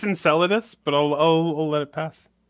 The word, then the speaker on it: Enceladus: yeah so I know yeah and it's it's Enceladus but I'll let it pass it's a difficult one to pronounce and I don't want know why it